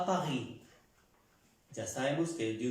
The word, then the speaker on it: Paris: Un ejemplo de je suis à Paris. Je suis à Paris. La S no se pronuncia en la palabra París.